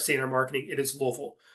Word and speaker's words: Louisville: Um, and that is the way that is how you say Louisville. It is not Louisville and it's not Louisville. It is Louisville.